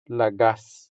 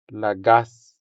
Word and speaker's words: lagas: This translates as lagas into Hiligaynon. Lagas. Lagas. The stress falls on the second syllable, making the second a sound longer than the first a.